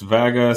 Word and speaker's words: Wagner: For now, we've been using the Wagner kit, which operates really well at stage 3 power levels, and maintains the front fascia of airflow to the intercooler. It's pronounced Vaga.